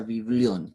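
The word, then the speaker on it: βιβλίον: la Biblia, que significa en el griego biblión, se pronuncia biblión, que significa libritos o libros, porque son varios libros juntos y que comprenden una unidad literaria.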